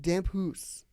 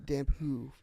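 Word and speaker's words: Damphousse: Vinnie Dampoo. Yeah, I I think the S is silent.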